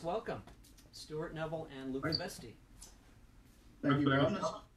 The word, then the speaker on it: Veste: Is it Veste or Vesti? Either is fine. I don't mind either. As long as you don't say Vest, that's the one that really makes me just disappear. what's your preferred pronunciation? Vesti is perfect.